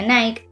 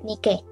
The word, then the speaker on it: Nike: En teoría, se pronuncia Nike o Nike. mientras que la diosa se pronuncia Nike, con tilde en la última letra.